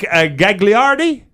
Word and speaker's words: Gagliardi: Patrick Gagliardi? Si, senor. Is that how you say it? That is pretty correct.